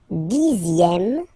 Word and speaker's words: dixième: Le dixième, so remember, even if you get this X here, you pronounce it Z.